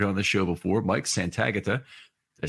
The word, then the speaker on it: Santagata: And today we have Bengals expert, one you've heard on the show before, Mike Santagata.